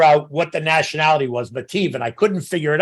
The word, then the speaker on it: Mattive: So it's we pronounce it Mattive, which messes everybody up, right?